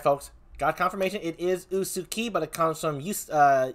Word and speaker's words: Usukie: is all right folks got confirmation it is usuki but it comes from uh yusuki right is